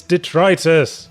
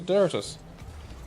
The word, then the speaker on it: detritus: it's detritus. I thought it was Deritus.